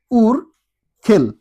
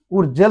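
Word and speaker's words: Urgel: এটা হবে উর খেল। উরজেল কিন্তু হচ্ছে না। উর খেল।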